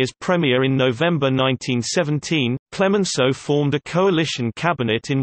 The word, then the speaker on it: Clemenceau: Georges Benjamin Clemenceau, French pronunciation, Clemenceau, the 28th of September 1841 to the 24th of November 1929, was a French statesman, physician, and journalist.